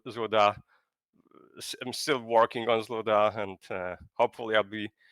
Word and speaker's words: ZLUDA: it correctly well it's it's written incorrectly but you would pronounce it zuda ah okay yeah I